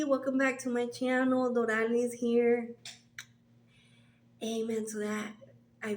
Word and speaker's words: Doralys: And you say it like this: Doralys. Doralys. And then put it together. Doralys. Or you can just call me Lys.